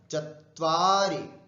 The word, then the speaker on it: चत्वारि: एकम एकम द्वे त्रीणि, यहां पर ध्यान रखना त्रीणि मत बोलना, दीर्घ है, त्रीणि त्रीणि, चत्वारि, वा पे ज्यादा जोर दे दीजिएगा, री पे कम, चत्वारि, पंच षट, षट उच्चारण,